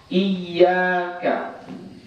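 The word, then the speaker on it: إِيَّاكَ: Contoh, iyyaka. Ini tasydid. Kau hilangkan tasydidnya, maka kau dianggap menghilangkan satu huruf dari surah Al-Fatihah.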